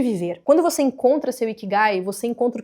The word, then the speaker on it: Ikigai: Busca por um termo chamado Ikigai. Se escreve, é um termo japonês, se escreve com K, assim, ó. Ikigai.